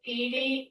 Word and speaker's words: Edye: Yeah, it's Edie, it's spelled Edye, and then Branning, Granning.